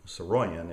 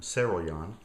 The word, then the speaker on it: Saroyan: When I was a developing author, one of the writers who deeply influenced me that I used to pronounce as William Saroyan is actually William Saroyan.